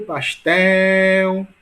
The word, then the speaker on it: pastel: Olha o pastel, né? Portanto, a sílaba mais longa, tel, portanto, é a sílaba mais forte, né?